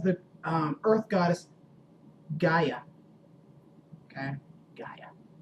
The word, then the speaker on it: Gaia: Gaia. I don't know if I pronounced it right or whatever. That's right, Gaia.